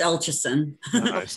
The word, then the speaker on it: Elcheson: It's Elcheson. Anyway, actually, it's interesting. It's actually harder to pronounce when it's in Ukrainian. We had it changed to sound more Angloized, and still people don't get it. So it's like damned if you do, damned if you don't. But eventually, I will be